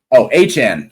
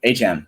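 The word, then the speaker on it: Achane: Anyway, he's Achan. Thank you, Achan.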